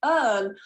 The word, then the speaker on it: earn: so a word like earn a lot of students just take the vowel and they try and pronounce it something like air or air which i've